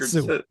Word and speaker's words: Senjutsu: It Sinjinku. What's the damn name of the last record? Senjutsu.